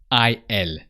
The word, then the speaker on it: il: goes El Ela now he in French is i l and the I is e so so how do